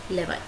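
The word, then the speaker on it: levy: को आप क्या कहोगे, लेवाई. ओके, इसको लेवी भी बोला जाता है और लेवाई भी बोला जाता है. Okay, both pronunciations are correct.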